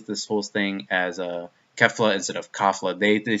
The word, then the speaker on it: Kefla: Well, the sub says they say Kefla, but it's spelled with an A. So I'm just gonna say Kefla, like how the Japanese people say it.